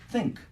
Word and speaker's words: think: I think think 아니라 왜 크라고 발음을 하냐면 혓바닥을 활용 안 했기 때문에 그래요 자 혀를 어떻게 윗니 아랫니 사이에 껴 줘요 think think 그다음에 집어넣어 준 다음에 잽사게 확 빼줘 그지 어떻게 think think